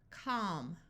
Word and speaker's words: calm: silent talk walk stock here we have a l before an m so the a will have the broad a sound of a and the L will be silent calm Palm B balm CH